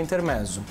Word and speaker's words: intermezzo: Nesse intuito de fazer esse trabalho personalizado que surgiu a Intermezzo. Agora, dia 26 de março, completamos 4 anos de trabalho. Intermezzo. Na Isso. verdade, ela tem outra pronúncia, né? Isso, ele vem do italiano intermezzo.